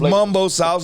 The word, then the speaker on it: Mumbo Sauce: oh man yeah and this is pronounced Mumbo Sauce not Mambo it's just a normal